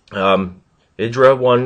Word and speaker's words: IdrA: I was also pronouncing his name incorrectly prior, but I got it right. Idra 1 and Dignatasani had dropped